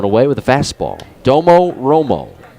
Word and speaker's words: Domo Romo: with a fast ball Domo Romo it is spelled exactly the way you would say it d o m o r o m o Domo Romo 10